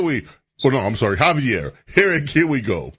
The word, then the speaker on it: Xavier: and for years I've never known how to pronounce it. Or even when I do know when it's Javier, I keep calling him Xavier. Cuz that's X A V E R, Xavier. But it's Javier. Javier.